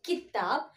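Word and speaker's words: किताब: So for this word, fourth word kitab, I'm not giving any stress. Okay, so kitab, that's all. Not as kitab, that is wrong. Kitab is the correct pronunciation.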